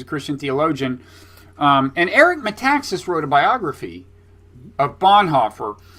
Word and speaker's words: Metaxas: does he pronounces meme texas met how to pronounce a whole last name a Texas I metaxas yes uh yeah he wrote a biography of